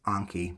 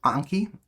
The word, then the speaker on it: Anki: I always mispronounce it as Anki, but you should say Anki because you should be better than me.